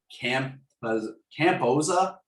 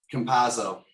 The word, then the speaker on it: Campazzo: 10 points out of Jokic, Gordon, Campoza, I think is how you pronounce it. Porter, Morris, and Green. Campazzo. Yeah. Thank you for the pronunciation.